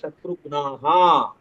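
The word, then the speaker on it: शत्रुघ्नाः: ராம லக்ஷ்மண பரத சத்ருக்னாஹா. புரியுதா? அந்த சத்ருகணா அந்த கடைசியில வந்துட்டு சத்ருகணா. ஆமா ஆமா ஆமா, அது ப்ளூரலா மாறும்.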